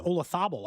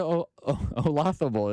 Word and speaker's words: Olazabal: Maria Olazabal.